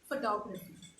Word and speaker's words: photography: example a very simple example is photography so we say uh photography okay it is photography so when we say fourth and top so this is it stressed a little more so it's photography likewise uh this now